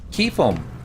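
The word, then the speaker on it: Qufim: Quiffum. I believe that. Kill. And... Misa, you say Quiffum or Queefum? Keefum.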